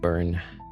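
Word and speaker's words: Bern: Uh B E R N, but I guess in English you would pronounce it burn.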